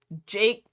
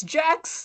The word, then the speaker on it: Jax: And they'll be like, hey, Jake the Reaper, and I'll be like, Jake? My name rhymes with sex. It's Jax.